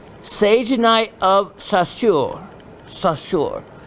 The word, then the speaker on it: Saussure: Or there's another name given to this rare form of sagenite, and it's called sagenite of Saussure. Saussure. How I'm quite pronounce that?